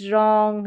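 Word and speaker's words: wrong: तो यहाँ पर देखिए पैटर्न 5th में है डब्ल्यू आर, यहाँ पर जो है डब्ल्यू साइलेंट रहता है, डब्ल्यू आर का कॉम्बिनेशन रहेगा और डब्ल्यू यहाँ पर साइलेंट रहेगा। तो ये देखिए स्टार्टिंग में डब्ल्यू आर है और यहाँ पर जो डब्ल्यू है वो साइलेंट है। राइट, रॉन्ग, रैप, रिस्ट, तो यहाँ पर आर से उच्चारण हो रहा है, डब्ल्यू साइलेंट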